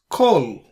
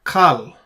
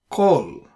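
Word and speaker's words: כָּל: Now if you notice here, we pronounce this as Kol, not Kal, Kol.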